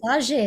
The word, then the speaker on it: saudade: the real, and you mentioned fado music and saudade, the Portuguese concept of, longing and missing something from I've the used very, that so many times on this podcast, right? Saudade, or I'm not. I never. yes, saudade is how you say I'm it.